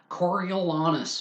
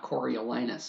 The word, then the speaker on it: Coriolanus: Coriolanus by William Shakespeare, and no, it is not Coriolanus. I am hesitant to pronounce anyone's name with the word anus in it.